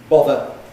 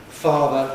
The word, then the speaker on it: father: Father has a short vowel. Father has a long vowel. There's therefore a different rhythm.